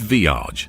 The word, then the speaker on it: VEIAG: VEIAG, pronounced Viage, was a short-lived crypto startup of which Daniel Mamheg was the CEO.